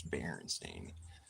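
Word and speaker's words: Berenstain: kind of playing off that but it's it's baren stain you know she would have corrected me because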